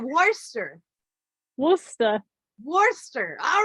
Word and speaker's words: Worcester: most people but uh yeah it's Worcester like Worcester why not at all how you would think it would be but okay is that right Worcester Worcester Worcester all right guys we got Paul